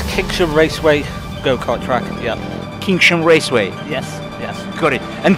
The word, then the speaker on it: Kinsham Raceway: Actually, how to pronounce correct this circuit? The name of the circuit is Kinsham Raceway go-kart track. Yeah. Kinsham Raceway.